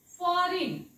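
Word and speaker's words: foreign: आपण सो it's sign फॉरेन इथे पण बघा फॉरेन फॉरेन इट्स फॉरेन फॉरेन सो इथे सुद्धा जी वाचायचा नाही सो जेव्हा असे उच्चार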